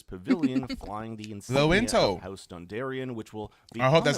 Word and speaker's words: Dondarrion: Note also this pavilion flying the ins house Dondarion which will be That's how you pronounce that bit.